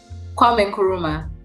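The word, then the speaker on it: Kwame Nkrumah: leader named Kwame Kwame y'all know I can't pronounce some of these names Kwame and Caruso how do you say his name Kwame kuruma thank you what she said we were taken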